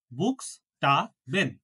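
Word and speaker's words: Buchstaben: উসে হাহা বুক বুক এই যে আ ও ইউ তিনটা ভাউল বললাম তিনটা ভাওয়েলের পরে সি এইচ একসাথে থাকলে কিসের মত উচ্চারণ হবে খ এর মত এটা যুক্তবর্ণ হ্যাঁ তাহলে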